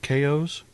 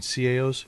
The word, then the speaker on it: CAO: Hey, I'd like to get a box of KOs. You mean CAOs?